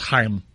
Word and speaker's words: Chaim: manager right does it it's pronounced Heim oh I'm sorry my